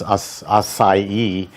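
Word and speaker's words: açaí: It took me, You have to say it right. It took me a year and a half to learn how to say it because otherwise you're going to embarrass yourself. Acai. Acai. Acai. Or acai. Or acai. It's impossible to say, but once you catch on that it's acai, it's quite easy.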